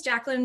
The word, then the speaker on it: Jacqueline: to go next sure my name is jacqueline but i work in tech so no one has given me the proper three syllables in probably about a